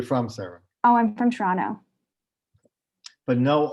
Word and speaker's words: Toronto: the T, the last T is not pronounced. It's Toronto. It's not Toronto. That's how you know.